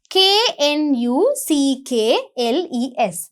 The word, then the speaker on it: Knuckles: range what's the spelling k-n-u-c-k-l-e-s Knuckles but you don't pronounce the first letter K it's silent right first letter K